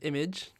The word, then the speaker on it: Imaje: In all of those games, I am known as Image. That's IMAJE. It's spelled out on my YouTube channel, as you can see.